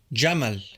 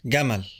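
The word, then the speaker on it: جمل: jab is pronounced gab the word for Camel jaml is pronounced gaml the word for crazy m is pronounced magon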